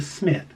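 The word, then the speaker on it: Psmith: Leave It to Smith. It's Leave It to Smith, but the P is silent.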